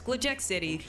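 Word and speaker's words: Glitchx City: of No it's it's glitch X City the x is NOT capitalized unless the entire name is capitalized I was having you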